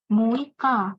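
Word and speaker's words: 六日: Nah, Muika ini sebenarnya cara baca agak spesial gitu. Agak berbeda sendiri.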